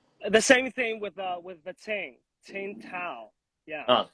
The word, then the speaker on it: Tsingtao: The same thing with the Tsingtao. Yeah. Oh, Tsingtao.